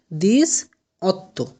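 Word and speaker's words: diciotto: আবার 18র কি উচ্চারণ হবে? দিস অত্ত।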